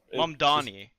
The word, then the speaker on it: Mamdani: I butchered it so Nah, bad. it's Mamdani.